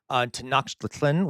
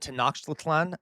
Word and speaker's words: Tenochtitlan: Um, I pronounced it Tenochtitlan. That there are different. I'm not sure how to pronounce it fully, J. William, but Tenochtitlan is how I was taught to pronounce it. I could be wrong. I do not speak Nahuatl.